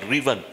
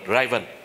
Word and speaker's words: driven: Điều thứ tư ngày hôm nay tôi muốn chia sẻ là technology driven, đọc là driven, không đọc là driven, driven business.